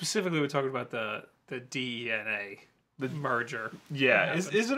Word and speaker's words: DeNA: right so we'll talk about uh the Nintendo DNA is that's how you pronounce it yes that is DNA uh de so DNA is a company that